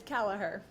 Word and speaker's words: Kalaher: Yep, it's Callah. Callaher.